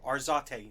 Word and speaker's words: Arzate: Pretty close to Arzate. Arzate. There's an emphasis on the second A?